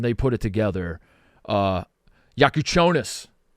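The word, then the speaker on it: Jakučionis: think like when they put it together uh yaku chonis yaku chonis I learned how to say his name I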